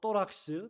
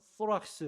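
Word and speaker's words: θώραξ: 그렇게 여기 호심경이라고 번역된 헬라어 단어는 뭐 발음하기에 따라서 또락스 또는 소락스 이렇게 발음을 하는데요.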